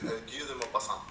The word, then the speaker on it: Guy de Maupassant: Sí, de hecho, no, sí lo pronunciaste bien. De hecho, es Guy de Maupassant, ¿no?